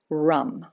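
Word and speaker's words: ram: the sound is rum r-a-m but pronounced with that u rum so for this one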